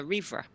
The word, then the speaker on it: Rhivre: for two different things was the official way to pronounce your name it's a reefer Libra are good so